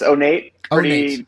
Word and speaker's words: Onate: correctly uh pretty close so it's ornate okay yep easy enough nature I always want to yeah I want to Accent on the E so for those of